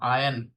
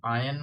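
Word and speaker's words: iron: हम बोलते हैं कपड़ों पे वो करते हैं ना आयरन प्रेस। तो स्पेलिंग तो होती है आई आर ओ एन। लेकिन उसको आयरन बोलेंगे। यहां पर आयन मतलब कपड़े प्रेस करो।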